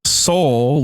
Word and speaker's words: Seoul: But see, the nerd in me like realized that they kind of fucked it up because it's Han, and then it's like Seoul, like the city Seoul -O.